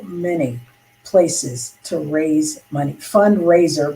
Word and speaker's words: FundRazr: Fundraiser, but it's spelled FUNDRAZR, is also another option